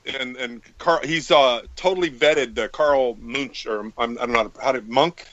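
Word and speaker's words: Munck: on pyramids is and he's totally vetted Carl Munch or I don't know Monk. How do you pronounce his name? Do you know Gigi who I'm talking about? Wait, who? Carl Monk or. Monk.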